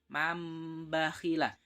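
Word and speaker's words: مَنْ بَخِلَ: Nun sukunnya diganti menjadi mim. Mambakhila. Dalam pengucapannya seperti ada mimnya, tapi dalam tulisannya tidak ada.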